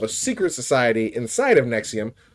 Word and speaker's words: NXIVM: a group called Nexium, which is spelled NX IVM. You know, it looks like Roman numerals, but uh it was pronounced Nexium as far as I could tell.